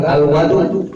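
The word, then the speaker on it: الوَضوء: Jadi kan kalau tadi pakai dhamma wawunya wudu dibacanya. Kalau sekarang fathah wawunya itu dibacanya fathah atau bisa dibilang al-wadu.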